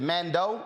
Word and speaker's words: Mandeaux: to man man uh is it is it Mando is that how it's pronounced correct Commando shoes n-a-n-d-e-a-u-x s-h-o-e-s Facebook Amanda